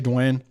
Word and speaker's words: Duane: And I'll say Duane.